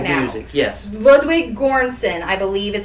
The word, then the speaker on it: Ludwig Göransson: Ludwig Göransson, I believe is how you say the composer's name.